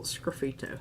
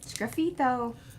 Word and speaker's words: sgraffito: All right, let's do a little sgraffito here. Sgraffito.